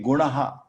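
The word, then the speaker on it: गुणः: See, gunaha is ana, not na. So we have dot over na, but you may not pronounce that, you may miss that.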